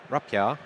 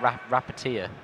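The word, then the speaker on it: Rapiera: holding a Barrage, Ram Rapia. Rapia. Is that how you remember how to say it? Yes. Because you keep calling it Rapatia. Yeah, that's by saying Rapia, I'm not saying it wrong now.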